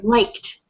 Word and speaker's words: liked: Now this word like with its ed ending, because the k sound has no voice, it is voiceless, then the ed will sound like a t. So this word is liked.